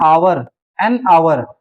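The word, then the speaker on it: hour: इसके बाद एन आवर, यहाँ पे एच साइलेंट है इसलिए एन लगा हुआ है।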